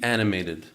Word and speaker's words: animated: all of Gemara, be animated. How do you say animated in Yiddish? Animated. Animated. You just stress on the t.